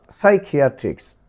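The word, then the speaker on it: psychiatrist: তারপর দেখো সাইকিয়াট্রিস্ট, সাইকিয়াট্রিস্ট এখানে কিন্তু সাইকিয়াট্রিস্ট হয়নি, পিসাই নয় সাই, সাইকিয়াট্রিস্ট।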